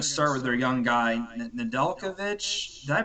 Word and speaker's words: Nedeljkovic: But I'm assuming they're going to start with their young guy, Nedeljkovic. Did I pronounce that right?